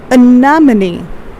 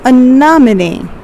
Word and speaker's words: anemone: Okay, so it's pronounced as anemone. Let me write it over here. So repeat after me. It's anemone.